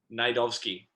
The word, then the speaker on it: Najdovski: It's Najdovski, so with a silent J. Okay, so it's not Najdovski, it's Najdovski.